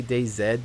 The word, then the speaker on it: DayZ: I actually mostly say DayZ because, yes, you can call it that. Z is the way that the letter is pronounced in a lot of countries. Canada, for me, more specifically. I am a dual citizen of Canada and the United States. Most people in Canada do say Z, so I kind of